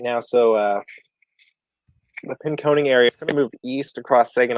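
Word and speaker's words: Pinconning: pin coning again yep pin coning is how it's pronounced I'll never remember it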